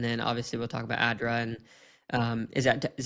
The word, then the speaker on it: ADDRA: a bit and then obviously we'll talk about ADRA and um is that is that how pronounce it?